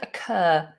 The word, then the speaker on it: occur: occur occur in in in a sentence it would definitely begin with a schwa uh occur occur some